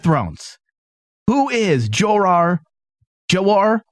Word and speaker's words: Jeor: who is Joe are jawar Mormont is how you pronounce this fella cuz there's two different ones it's je Oh are really so you know